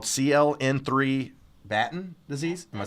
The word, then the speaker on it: Batten: Tell me if I'm wrong, called CLN3 batten disease.